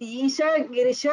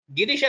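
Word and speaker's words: गिरिश: Isha Girisha or only Girisha? Girisha only. Whatever is there on the screen, exactly like that. No difference.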